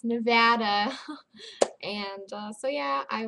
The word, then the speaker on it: Nevada: from Las Vegas Nevada it's not Nevada it's Nevada and uh so yeah